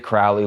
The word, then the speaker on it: Crowley: Doug Kershaw himself told me that the people who live in Crowley, Louisiana, pronounce it Crowley, Louisiana. As soon as he started to tell me how residents of Crowley, Louisiana say the name